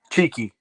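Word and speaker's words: Txiki: Pronounced Cheeky, yeah.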